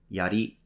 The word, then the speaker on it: yari: of you are interested in Japanese these are pronounced Yari Katana and Samurai if you want to know